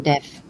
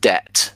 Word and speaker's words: debt: are financed by using debt. Yeah, so this is just debt. The B is silent.